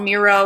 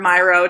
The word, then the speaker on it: Miro: look this app is called Miro or Myro depending on how you pronounce it and I absolutely love